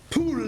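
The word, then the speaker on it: πύλη: It comes from the root pule, that's how that's pronounced.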